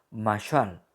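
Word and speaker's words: מָשָׁל: En el versículo 7, la palabra parábola se pronuncia en hebreo masal y tiene significado de proverbio o poesía.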